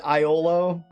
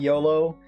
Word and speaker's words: Iolo: This game, some of the names in this game, like I always pronounce it Iolo, not Yolo, and Shimino, not Shimano. Minok, it was always Minok to me.